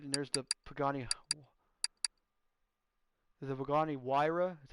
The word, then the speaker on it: Pagani Huayra: The Pagani Huayra. That's how you pronounce it.